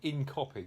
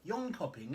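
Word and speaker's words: Jönköping: tomorrow early start uh to in copy which is the incorrect pronunciation apparently lean copy in hopping or something John Copy yon copying in it yeah no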